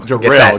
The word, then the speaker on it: Jerrell: Jerrell, get that straight. Get the emphasis on the right syllable.